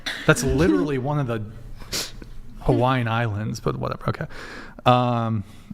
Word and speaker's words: Hawaii: supposed to pronounce it Hawaii that is true didn't a comedian make a joke about the W in the Hawaiian language is a v kind of mhm mhm Kawaii Hawaii